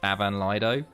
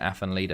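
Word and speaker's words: Afan Lido: i just butchered them i think athen leaders actually pronounced avan lido but i just call it affin leader because that's how i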